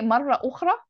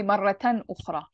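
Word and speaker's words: مرةً أخرى: Yeah, so the thing is with ta marbuta, if you ever say marra ukhra, or if you're going to pronounce the ta marbuta, you have to say maratan ukhra.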